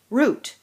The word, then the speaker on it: route: Route, or alternate pronunciation, route. Which route are you going to be taking to get to the party?